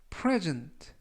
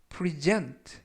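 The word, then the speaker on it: present: 라고 발음 하시면 되겠구요 이 때 유의하실 점은 강세가 앞부분에 있는 알파벳 이애 강세가 있습니다 그래서 풀어준 라고 발음 하시면 되겠고요 만약에 강세를 뒷부분에 있는 알파벳 e 에 강세를 두면 프리젠 프리젠 라고 해서 동사가 됩니다 그래서 프레즌트 라고 발음 하시면 품사가 명사가 되고요 뜻은 선물 이라는 뜻이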